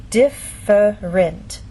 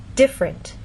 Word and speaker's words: different: In very slow, careful speech, and especially formal speech, you might get this pronunciation, different. But often in fast speech, you lose that middle sound and you get different.